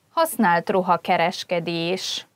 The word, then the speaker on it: használt ruhakereskedés: Használt ruhakereskedés. Second-hand clothing store. A posta mellett van a használt ruhakereskedés. The second-hand clothing store is next to the post office. This entry, használt ruhakereskedés, could be difficult to pronounce because it's quite long.